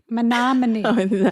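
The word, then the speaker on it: Menomonie: Monomony.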